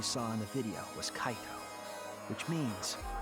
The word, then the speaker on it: Kaito: is Cato must be kaito so the person inside that exosome isn't kokichi it's Cato it has to be kaito I always say his name wrong I say Cato and they say kaido Kato kaido tomato tomato